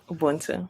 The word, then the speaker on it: Ubuntu: Ubuntu. Is that how you pronounce it? Yes, that's how you say Ubuntu.